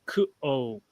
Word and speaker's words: Q'uo: The single apostrophe, that's usually a glottal stop. So it's kuo. That's why I say it like I do. Kuo. I try to separate the two. It's like two words almost.